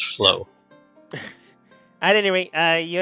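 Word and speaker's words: Phylo: before he's weird uh filo's his name or i'm mispronouncing that phylum no it's uh p-h-y-l-o yeah maybe just flow ph so it's flow at any rate uh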